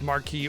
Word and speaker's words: Marquis: The reality is that it's Marquee or Marquis. Both work.